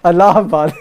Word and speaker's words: Allahabad: Allahabad. I keep getting cussed for that. I told you, man. Don't song with me, man. So I'll put it down to the hunger. So Allahabad is known as Prayag.